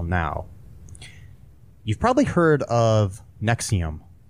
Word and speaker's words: NXIVM: The Nexium is NXIVM is how it's spelled.